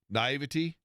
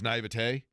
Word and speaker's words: naivete: When I was forever, I used to say naivety. Yeah. And it's naivete, which is weird because isn't it spelled just T-Y? But I always pronounce it naivety.